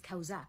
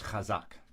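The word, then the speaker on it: חזק: that is used is kausak which I also mentioned in previous videos you continue to mispronounce these roots based on your misunderstanding of a 19th century transliteration convention the word is hazak Tamar uh no it's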